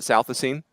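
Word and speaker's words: Southisene: And correct me if I mispronounce the name, Shooter, but Ty Southasine. Is that how you say it? Southasine?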